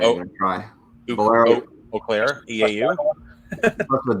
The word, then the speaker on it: Eau Claire: Eau Claire, EAU? That's the W. Oh. Wash. We need Jeff Riggles to pronounce that one for us.